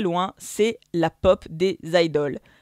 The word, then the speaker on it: idol: ça est très réglementée idol ça s'écrit idole mais ça se prononce bien idol en anglais ou aïd le en japonais ça vient à l'origine